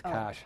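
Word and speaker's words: Kosh: A lady named Cash, like Cher, one named Cash. Cash like money? Cash. How do you spell that? K-O-S-H, her name is Cash.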